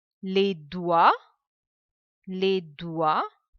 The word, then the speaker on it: doigts: Les doigts. Now here we are pronouncing only till OI. The sound OI is OA. Les doigts. Last three letters, silent. Les doigts.